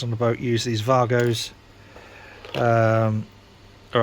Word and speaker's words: WAGO: the boat use these vargos um all right it's spelled Wago but it's German so you pronounce it Vargo anyway enough of that